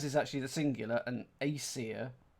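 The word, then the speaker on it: Æsir: So Norse gods, because as is actually the singular, and Aesir, I'm assuming that's how you say it. Isa. Isa.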